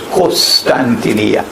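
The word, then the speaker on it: قسطنطينية: Notice that the hadith goes on to say I pronounce it as Constantinia but in Arabic they pronounce it as Costantinia co not constantinia is closer to the original but in other they say Costantinia Yeah.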